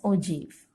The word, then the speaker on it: ogive: word is like this ogive, but it is pronounced as ogive.